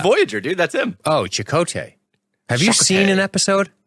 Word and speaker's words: Chakotay: Oh, Chakotay. Have you seen an episode? Huh? Have you seen an episode of Voyager? Dude, and not in like 13 years, Okay. but yeah. Okay, so it is definitely Chakotay, so I just want to help you out